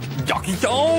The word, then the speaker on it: Jackie Chan: Jackie Chan, ça se prononce comme ça.